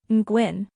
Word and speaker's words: Nguyen: The Ying sound is unique to Vietnamese, and the UI is pronounced like OE, with a slight rising tone.